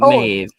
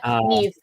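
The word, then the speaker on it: Niamh: No, not Mave. Uh Nev. Nev. Thank you.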